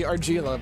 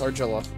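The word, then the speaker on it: Argilla: wrong this entire time I thought it would be argila but no it's argila I feel kind of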